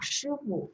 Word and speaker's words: 师傅: Ya, bacanya sama, Shifu, tapi tulisan Mandarinnya berbeda ya.